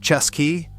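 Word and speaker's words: Cesky: Chesky Terrier. The Chesky Terrier, pronounced Chesky, is the terrier that forgot to be a terrier.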